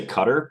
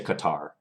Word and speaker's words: Qatar: how to pronounce it some people say cutter but from what read That's not correct so I'll just say Qatar okay let's while we're